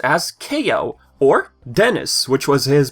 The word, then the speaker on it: Kao: pc last but not least our favorite kangaroo ko or ko or ka depending of which country you live in i've heard different pronunciations but you know it's officially pronounced as ko or dennis which was his prototype name the